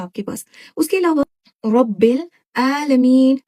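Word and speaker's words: العالمين: अब जहाँ से हमारा मखरज हा का होता है, वहां से हम आइन बी प्रोनाउंस करते हैं। देखिए, आइन आ, ऐसी शार्प आपने वॉइस निकालना है, रब्बिल आलमीन।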